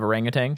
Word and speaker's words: orangutan: pronouncing their name orangutan you do want to stress on the second syllable the r syllable Oran Oran I don't